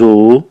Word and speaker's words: œufs: du lait لبن des œufs بيض. لاحظ أن ياغورت مذكر لي مذكر و مذكر، ولكن لا أنطق حرف الإف في الجمع.